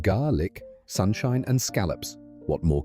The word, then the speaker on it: Gaelic: Gaelic, pronounced garlic, sunshine and scallops.